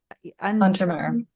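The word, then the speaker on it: Untermyer: Untermeyer.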